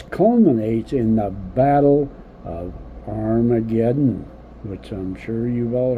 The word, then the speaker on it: Armageddon: And the original text, I think, pronounced that Harmageddon, but most Bibles nowadays, they all agree to Armageddon.